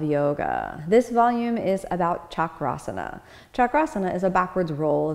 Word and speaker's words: chakrasana: designation as opposed chakra is a wheel so chakrasana is literally the wheel pose so it's to